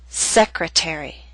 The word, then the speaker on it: secretary: Appetizer and secretary are longer words. They have both primary and secondary stress. Primary stress is at the beginning of these words, but the T still falls on a stressed syllable. It's secondary stress, a little weaker but still stressed. That's why it's still a true T. And we say appetizer, secretary.